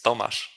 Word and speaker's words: Tomasz: Tomasz, but There you it's go. it's very hard to pronounce, so everyone call me Tomek because it's Okay.